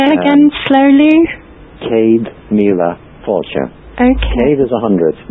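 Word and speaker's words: Céad míle fáilte: top right as you come in it says Kad La fure say it again slowly Cade Mila fure Okay Cade is 100 N is a thousand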